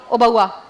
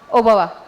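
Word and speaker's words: ಓಬವ್ವ: Fort है वहां घूम रही थी तो मैं ओबवा के बारे में सुन रही है। मैं सही प्रोनाउंस कर रही हूं। ओबवा ओबवा हां ओबवा के बारे में मैं सुन रही थी।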